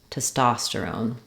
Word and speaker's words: testosterone: syllable testosterone testosterone um you could also think about it like Stone I put the r there because I feel like we link the r um between those two syllables so if I say